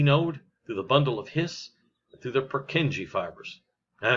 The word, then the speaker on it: His: then it goes down it's called the bundle of hiss not his his that's